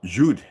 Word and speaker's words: Jude: In German word Jude and is pronounced Jude, okay?